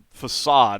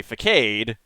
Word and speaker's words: facade: he was saying but of course facade is the proper pronunciation and they had him say for cade because he actually is